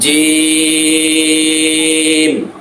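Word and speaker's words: جيم: আপনারা স্ক্রিনে দেখতে পাচ্ছেন জিমের উচ্চারণ হবে চার আলিফ লম্বা করে যেমন জিম জিম জিম جیم جیم جیم এইভাবে মাখরাজ ও মুশরে চার আলিফ টেনে পড়তে হবে এরপর রয়েছে যে দুইটা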